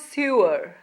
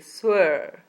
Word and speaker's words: sewer: The sewer contains the sound. Sewer. It's not sewer like people commonly mispronounce it. It's a sewer.